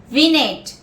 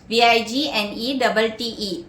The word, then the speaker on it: vignette: Next word, vignette, V-I-G-N-E-T-T-E. Yeah, it is vignette. Vignette means a short evocative description or a short piece of writing. Yeah, it is vignette, V-I-G-N-E-T-T-E, where the G is silent.